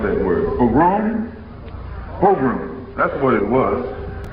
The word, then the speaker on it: pogrom: How do you pronounce that word? Pogrom?